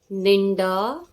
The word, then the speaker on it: निंड: तो प्रोनाउंस कैसे आएगा उसका? सुबह जो थद हेड़ी थी लगे, निंड, निन आधा ना, निन ने न ड, निंड नथी खुले। नींद को निंड, निन, देखो मैं प्रोनाउंस जो कर रही हूं ना, वो निन आधा भी पीछे ना आ रहा है। निंद, निंड, ड से डमरू वाला ड।